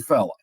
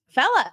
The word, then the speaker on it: Fela: Is it just pronounced Fela? Actually, Fela. Fella, okay.